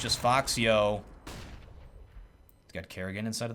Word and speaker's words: Foxio: And by the way, anybody wondering about why I'm pronouncing it that way? I asked him, and he said that's what it was. Named Fox, after one of his favorite characters or something. And then added the yo at the end, and it